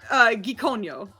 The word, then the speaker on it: Gikonyo: It's Gikonyo. If you guys want to try it. Oh, you pronounced that way differently this time. freaking way. We'll get our guest Give it- spellings in for Gikonyo.